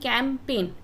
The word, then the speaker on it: campaign: तो G इसमें silent है, राइट, G इसमें साइलेंट है। कैंपेन यानी कि जो अभियान होता है इसमें G साइलेंट होता है। CAMPAIN का साउंड आता है और G रहता है साइलेंट, कैंपेन यानी कि अभियान।